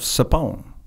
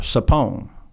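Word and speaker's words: Tchepone: And the headwaters of that was in the town of Sapon. So that was the final objective, mm-hmm. was to capture Sapon. It's spelled T-C-E-P-O-N-E. Right. It's got a weird spelling.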